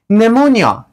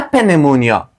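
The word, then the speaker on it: pneumonia: گفتیم قبل از ان همچنان نمونیا نمونیا نمونیا نه پنمونیا نمونیا ما ای را تلفظ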